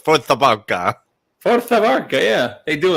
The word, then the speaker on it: Força Barça: I had to Google the pronunciation. I did not know it was Força Barça.